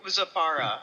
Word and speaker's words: Zafara: Okay, so Zafara, I believe, is that the correct pronunciation? That is the correct pronunciation. Zafara.